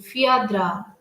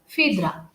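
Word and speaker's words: Phèdre: g rasin which is entitled fiatra or fidra you can pronounce either way but the right way of pronunciation is fidra it has been discussed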